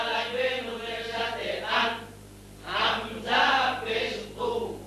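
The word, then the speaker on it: همزة: দুই এর মত দেখা যায় হামজা তার নাম হামজা তার নাম হামজা উচ্চারণ কেবুর হবে হামজা হলকের শুরু হবে শক্তভাবে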